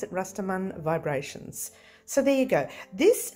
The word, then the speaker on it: Rastaman Vibrations: as restaurant vibration or rastaman vibration depends on how you want to pronounce it you can pronounce it like the australians do rastamin vibration or you can pronounce